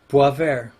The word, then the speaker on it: Boisvert: Boy, how do you say it? Boisvert. Boisvert. Ah, French, huh? Boisvert.